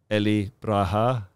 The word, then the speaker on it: Eli Beracha: the show and today I have with me Ellie Braha it's my best uh pronunciation of your your name you did well